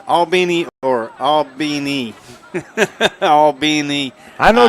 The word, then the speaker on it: Albany: Oh, yeah, it's not Albany, it's Albany.